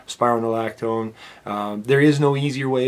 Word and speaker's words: spironolactone: their spironolactone, and yes, that is how you pronounce it, spironolactone. Spironolactone.